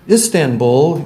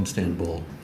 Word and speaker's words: Istanbul: He said there's no N in Istanbul. Well, there's not two N's. And for my entire life, I've been pronouncing it Istanbul.